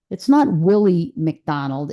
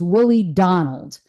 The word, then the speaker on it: Willie Donald: And by the way, there's an error in the video, and it's not Willie McDonald. It's Willie Donald.